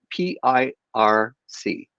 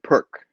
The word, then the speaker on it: Pirc: It's, how do you pronounce P-I-R-C? Pirc. Yeah, Vasya Pirc. Yeah, because when I was just reading it, I said perk.